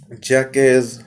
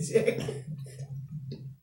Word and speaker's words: Jacques: You said jackass. That's Jacques, baby. Jacques. You know, it's French.